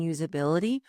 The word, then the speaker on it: usability: we see that prioritizing usability will accelerate adoption. Here's a pronunciation tip. Notice that the S in usability actually sounds like a Z. There's a slight vibration.